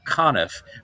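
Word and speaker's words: Conniff: Frank Coniff rhymes with gone.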